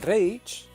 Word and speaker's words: Reich: El Reich, o Reich, como se pronuncia en alemán, es una monarquía semi-autoritaria.